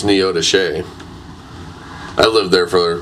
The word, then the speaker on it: Neodesha: I think they got married in Neodesha, which everybody that doesn't live in that area pronounces it completely wrong. What's it called? It's spelled Neodesha, but it's Neodesha.